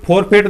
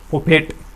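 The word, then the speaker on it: forfeit: गया, ये वोवल है, तो ये फोरफेट नहीं होता, इसका भी प्रोनाउंसिएशन होता है, वो क्या होता है, फोफेट। क्या होता है, फोफेट होता है इसका प्रोनाउंसिएशन।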